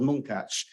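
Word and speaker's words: Munkács: 1926 in a town called monkatch that Hungarian way of pronouncing it it's also known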